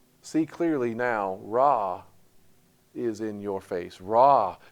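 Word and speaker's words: רע: word that's translated evil you know how it's pronounced Raw sounds a lot like sounds a lot like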